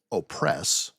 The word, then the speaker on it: Opress: A male by the name of Savage Opress, spelled like the word savage, by the way, and the last name is Opress, as in to keep down.